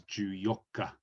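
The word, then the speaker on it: 十四日: So 14 is usually pronounced as Ju Yokka. So it's Ju 10 plus the Yokka number here.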